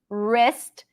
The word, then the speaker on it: wrist: right light right light wrist we don't pronounce the W here doesn't exist wrist list wrist list